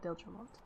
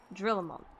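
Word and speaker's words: Drillemont: 'Twould be best were we to return to Whiteroom Front and lay our suspicions before Lord Dilgermont. Drillamont.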